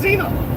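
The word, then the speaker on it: Xenia: Why does it have a X if it's pronounced Zena?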